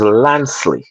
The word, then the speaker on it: Lansley: The name does not have a G. It is Lansley. My father said it is Lansley. It is supposed to sing. It's of French origin, you see. Okay, so don't pronounce it with a G.